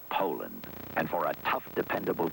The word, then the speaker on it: Poulan: And for over 30 years, they've been mispronouncing our name. Poulan. Po. A poo. Po. Poo. So, we'd like to remind you that our name is Poulan.